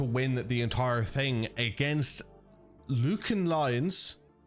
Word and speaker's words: Lucan: the entire thing against Lucan Lions Luc Lions I ja is told me that's the pronunciation so Luke and lions a team that I